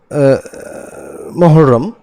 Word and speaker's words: মুহাররম: মহরম কে কেন্দ্র করে একচুয়ালি উচ্চারণটা মুহাররম আমরা যদি আরবিতে যাই তো বাংলাতে এটাকে আমরা মহররম বলে থাকি তো যাই হোক মহররম